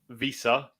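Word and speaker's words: Wissa: of the worst shots you've ever seen from Visa that's how you say it and uh vandeven's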